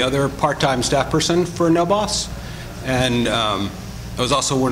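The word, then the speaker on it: NoBAWC: This is the other one for the network of Bay Area Worker Cooperatives, pronounced NOBOS.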